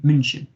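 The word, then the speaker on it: München: munich in germany uh munchen as it's pronounced in germany really lovely uh city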